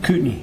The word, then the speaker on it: Kootenai: Kootenai. Kootenai, okay. So Kootenai County, as the locals say it, okay.